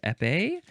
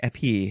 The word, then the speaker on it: épée: of how to pronounce épée. Is that the correct way to say that word? Let's see. Épée, it's spelled like épée. Here we go. Épée or épée. You can say it either way is fine.